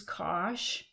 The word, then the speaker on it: cosh: need to know the definition of cinch and kosh and that's how you pronounce these two functions this is kosh and this is cinch and the other hyperbolic